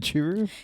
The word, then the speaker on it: Churu: oh churu churu but we just call it churro in our household is it churu it's spelled c h u r u churu he